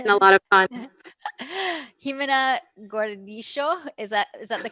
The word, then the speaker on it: Gimena Gordillo: Gimena Gordillo. Is that the correct pronunciation?